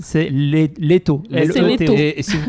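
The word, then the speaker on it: Лето: Pour le trouver, c'est difficile quand c'est Daniel qui le prononce. C'est Leto.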